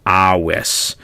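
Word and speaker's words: avis: right, we talked about the V being pronounced as a W. So just to take a look at some words here, waleo, wenio, awis. All right, so all of those V's are going to be pronounced like W's.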